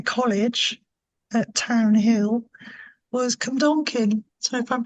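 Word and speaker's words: Cwmdonkin: up to my college at Town Hill, was Cumdonkin. So if I'm pronouncing that right, Cumdonkin Wow, Park.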